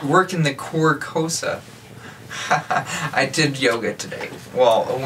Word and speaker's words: Carcosa: it's Carcosa. Yeah, Carcosa. Carcosa. Like the car. I gotcha. Yeah, it's not working the Carcosa.